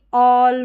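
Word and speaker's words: all: तो यहाँ पर देखिए ऑल, बॉल, कॉल, बहुत छोटी छोटी स्पेलिंग्स दे रखी है।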